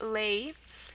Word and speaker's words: lei: I guess it's pronounced le'e, but the plural is pronounced lei.